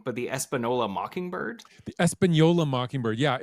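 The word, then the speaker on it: Española: The Espanola mockingbird. Yeah, it's the N is an Enye.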